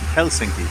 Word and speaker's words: Helsinki: a really nice view of the city of Helsinki and that's what it's pronounced Helsinki the landscape of Finland looks remarkably like the